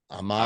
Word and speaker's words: Amon-Ra: You have to pause and you have to say it slow.